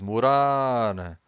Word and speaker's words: morar: Every time you have a word that ends with an R, you stress the final syllable, okay?